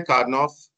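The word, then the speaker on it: Karnaugh: सो ये इसकी प्रोनाउंसिएशन है कार्नॉफ मैप।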